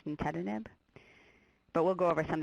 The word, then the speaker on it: nintedanib: like no one's on nintedanib which is actually another one and Nintendo I just put on because it's the only way I can remember how to pronounce nintedanib but we'll go over